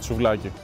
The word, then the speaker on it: souvlaki: Why can't anyone pronounce the name of this correctly? And it's not what you think. They call it souvlaki.